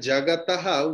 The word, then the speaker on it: जगतः: Visarga's pronunciation is Ha.